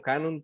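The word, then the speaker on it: κανών: la palabra canon proviene del griego canon, pero con K y con acento en la O, que significaba eh, primitivamente una caña recta que servía para medir una regla o un modelo.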